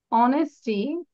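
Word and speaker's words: honesty: বলা যাবে না কিন্তু হ বলা যাবে না এইচ এর উচ্চারণ থাকবে না H will be silent okay so literate literate literate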